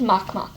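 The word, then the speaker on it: Makemake: are Pluto of course Sharon its moon and mock mock and I know I'm spelling it make me it's called it's pronounced mock mock okay um yes unfortunately this system will let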